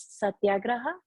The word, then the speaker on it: satyagraha: you said it correctly i think the way they would say it in india is satyagraha something like that so um it's as